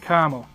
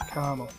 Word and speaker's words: caramel: caramel but you know with my um Boston accent the r r sound tends to drop out in the middle of syllable so I pronounce it KL I remember once oh